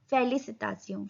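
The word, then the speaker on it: félicitations: फेलिसिटासियों. फेलिसिटासियों. फेलिसिटासियों. S silent.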